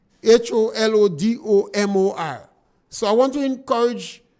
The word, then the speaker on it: Holodomor: our people to research the word holodom. I think that is the pronunciation for it. When you meet an individual who cannot speak English good, it's difficult to ask them to pronounce words from the Slavic countries. But it's holodoma, Holodomor.